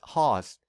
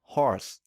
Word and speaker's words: horse: ignore certain cells so we might pronounce this word as hast instead of horse this is because the